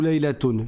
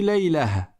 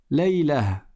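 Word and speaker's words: ليلة: Par contre, si tu t'arrêtes dessus, tu ne dis pas Laylatu ou Laylatun, tu dis Laylah. Laylah.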